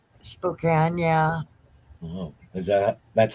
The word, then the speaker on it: Spokane: deep real deep up there Spokane Washington right Spokane yeah oh is that that's how it's pronounced Spokane yeah well that's how what we